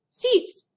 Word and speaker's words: six: Notice that X is not truly pronounced six. There's a little S sound, and that's all you do with that.